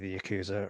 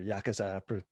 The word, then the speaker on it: Yakuza: And you've obviously got the Japanese mafia, the Yakuza or Yakuza, depending on how you want to pronounce it.